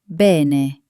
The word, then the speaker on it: bene: Notice that both E sounds are exactly the same. Repeat after me. Bene.